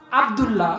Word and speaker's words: আব্দুল্লাহ: আস্তাগফিরুল্লাহ না, আস্তাগফিরুল্লাহ, গয়ন উচ্চারণ হবে। আমার নাম আব্দুল্লাহ, এখন যদি আমাকে ডাকেন এ আবুল্লাহ আবুল্লাহ, আমি কি ডাক শুনবো?